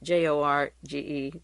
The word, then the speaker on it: Jorge: General Court George wadella j-o-r-g-e the J is silent Jorge vidella and the